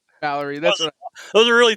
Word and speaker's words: Mallory: Mallerie. Mallerie.